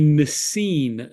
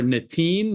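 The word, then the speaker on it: נתין: The second term we need to define is a nesin, nun saf yud nun sofis, or netin, nun taf yud nun, depending on your pronunciation.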